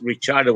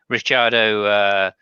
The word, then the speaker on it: Ricciardo: I say Ricciardo because I'm not Italian. yeah. Ricardo, Well, actually, basically, funny thing, if he were Italian, you would pronounce him exactly Ricciardo. yeah. I mean, I tried to do my best. I'd say Yeah, Ricciardo. I would say do on the end instead of yeah. do, obviously. Ricciardo, Cuccia, famiglia, Giuseppe Verdighetti.